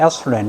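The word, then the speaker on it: ethylene: 우리 발음은 에틸렌 사지만 영어로는 에슐렌 이렇게 발음합니다.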